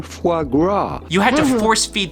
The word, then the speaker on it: foie gras: we are looking at how to pronounce with the typical french pronunciation foie gras you had to force